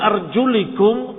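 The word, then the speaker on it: أرجلِكم: Kalau dibaca fathah, arjulakum. Maka cucilah kaki-kaki kalian kalau terbuka tidak ditutup dengan khuf. Dibaca arjulikum.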